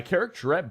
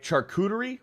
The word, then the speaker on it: charcuterie: By the way, Beardo, my characterette board. Oh wait, not characterette. I don't know how to say this. It's like the board. Charcuterie?